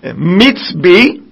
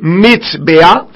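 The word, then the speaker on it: מזבח: Autel se dit mitzbi. Mitz, ça s'écrit mitzbea, qui signifie lieu de sacrifice.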